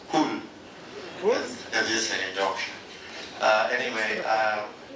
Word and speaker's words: Hull: It's not Hull, it's Hull.